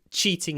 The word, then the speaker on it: cheating: And about pronunciation, remember the English "ch", it's more like a Russian "tsh". Cheating. It's really really soft.